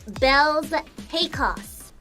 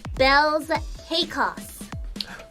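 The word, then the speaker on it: Baelz Hakos: My name is pronounced Bells Hakos. Bill's Heckus? Bells Hakos.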